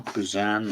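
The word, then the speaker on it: Buzan: His friend, the late Tony Boozen. There's other ways of pronouncing his surname, Buzzan or not lateral thinking that's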